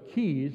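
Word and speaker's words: cayes: they call these the the way it's pronounced is keys they call it Kai's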